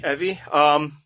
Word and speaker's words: Evie: Evie. It's how they pronounce it.